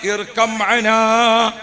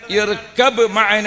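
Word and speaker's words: ارْكَبْ مَعَنَا: യാബുനയ്യ പൊന്നുമോനെ യാബുനയ്യ പൊന്നുമോനെ ഇർക്കന അവിടെ നൂഹ് നബിയെ തൊണ്ട ഇടറിയിട്ടുണ്ട് നൂഹ് നബി കയറാൻ വേണ്ടി പറയുമ്പോൾ തൊണ്ട ഇടറിയിട്ടുണ്ട് ശരിക്കും പറയേണ്ടത് എങ്ങനെയാണ് ഇർക്കമന എന്നാ പറയേണ്ടത് പക്ഷേ മൂപ്പര തൊണ്ട ഇടറിയിട്ട്മന ബാിന്റെ ഉച്ചാരണം മീമില ചേർന്നു പോയി അത് പിന്നെ കാഴ്ചയായിട്ട് വന്നതാണ്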